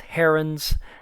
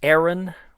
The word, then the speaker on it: Heron: I've heard it pronounced Heron I've heard it pronounced Heroes formula without the N I've heard it pronounced Aaron where the H is silent so uh Heron Hein Aon all kinds